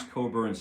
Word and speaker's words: Cockburn: And it's spelled Cockburn, but it's Bruce Coburn's Celestial Horses.